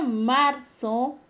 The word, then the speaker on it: marzo: El término marzo, la mayor fuerza de voz está en la penúltima sílaba y no se tilda porque termina en una vocal. Entonces es una palabra grave sin tilde.